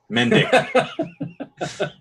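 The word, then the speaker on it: Mendick: what's his name grant mendic it's it's you you say it phonetically mendic who do you have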